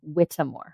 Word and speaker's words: Whittemore: name is pronounced witmore got it Whitmore is my last name it's my hippie parents